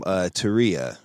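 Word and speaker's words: Tarea: first email is from Turia which I'm not understand pronounced like homework in Spanish okay that's right okay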